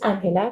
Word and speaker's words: Angela: here I'm Colombian so the real pronunciation of my name is Angela because we speak Spanish back home SOA I use